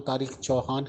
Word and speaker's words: तारिक चौहान: कुछ वो है, और आप तारिक चौहान साहब का नाम गलत प्रोनाउंस कर रहे हैं। उनका नाम तारिक चौहान है, तो प्लीज़ इसको आप करेक्ट कर लीजिए।